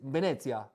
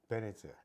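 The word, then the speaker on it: Venezia: the locals say because in Italian language right it's Venice is Venetsia Venetsia and H Naples is Napoli Napoli and Rome is Roma and also and also the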